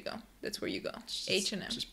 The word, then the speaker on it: H&M: country I think so I know in Romania for example some people say hash andm um because yeah yeah okay H&M in English so if you want